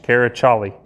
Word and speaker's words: Karaçali: That C with the little squiggle at the bottom is a Turkish character, but it's pronounced with a CH, Karaçali.